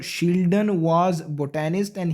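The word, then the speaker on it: Schleiden: कुछ लोग इसको स्क्लैडन भी प्रोनाउंस करेंगे इस नाम को। इट डजेंट मैटर, आप कुछ भी प्रोनाउंस करें, आपको पता होना चाहिए कि कौन सा नाम था ये।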